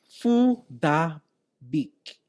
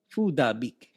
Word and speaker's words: Phuc Dat Bich: about Facebook consistently apparently bitch's name is correctly pronounced fool da beak food a beak but it seems suspect to the uninitiated apparently